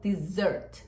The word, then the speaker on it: dessert: Segundo, que você não fala esse é aberto. Você fala dessert. É dessert. Dessert.